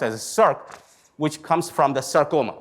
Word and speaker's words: Src: circ the src is the src it's not pronounced at src but it's pronounced as serc which comes from the sarcoma basically they found